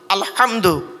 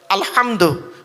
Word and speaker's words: আলহামদু: করে ফলো করুন আলহামদু আলহামদু হায় হুটি হাউজ নয় গলার ভেতর থেকে এটা উচ্চারণ করবেন আলহামদু আলহামদুলিল্লাহি রাব্বিল আলামিন এর